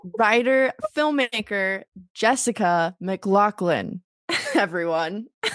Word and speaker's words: McLaughlin: I was like, "Oh, I'm the I've been for years saying Mclofflin." It's Well, it's technically Mclaclin like the gun like Oh, so both of us have been saying it wrong.